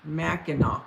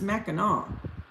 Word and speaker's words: Mackinac: filmed that movie pronounced mackinac mackinac okay what movie was it you guys oh thanks muppets why does that have a c at the end if it's mackinaw why don't why oh